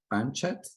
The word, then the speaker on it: Banchet: With extensive experience working alongside renowned chefs, he earned accolades such as I believe it's Jean Banchet. Did I say it right? Thank you. Banchet, that's great.